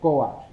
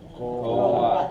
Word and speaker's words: Coatl: She said Coat. Coat. Okay. Oh, all the Aztec words, they all have the accent in the second to the last syllable.